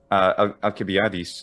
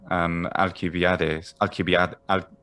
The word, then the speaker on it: Alcibiades: Alcibiades is the modern Greek pronunciation. Yeah. Alcibiades for 5th century BC.